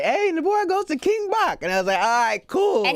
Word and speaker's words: King Bach: King Bach another cool he corrected me on stage cuz now cuz now millions of people wouldn't see my name wrong as King Bach that's right kidding me you're going from you know from king batch to now yeah look in the